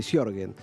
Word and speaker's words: Sjögren: Te preguntaba cómo se pronunciaba porque es bastante difícil, porque es S-J-O con diéresis. Pronunciamos medio diferente. Sjögren está bien dicho, ¿no?